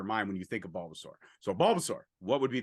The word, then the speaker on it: Bulbasaur: If I were to throw out Balthazar, or Bulbasaur, sorry, I say it wrong all the time. People give me shit. Bulbasaur. Bulbasaur, thank you. Like dinosaur.